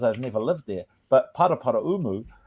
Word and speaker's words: Paraparaumu: never lived there but paraparaumu um we always call it para Paramus kid so I have to